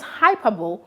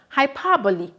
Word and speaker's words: hyperbole: after me hyperbole now take note of the pronunciation not hyperbole but hyperbole now i get this question